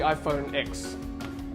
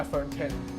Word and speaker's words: iPhone X: Let's look at the iPhone X or iPhone 10, depending how you want to pronounce it.